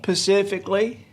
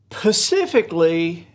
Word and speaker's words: specifically: drive me crazy but i hear people say pacifically now if you want to use that correctly you could say specifically hawaii is right about